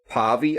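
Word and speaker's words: Paweł: I think it's pronounced Pawe. I think.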